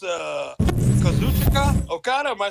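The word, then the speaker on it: Kazuchika Okada: the hell you just said yeah it's uh kazuchika okata am I saying it right yes K or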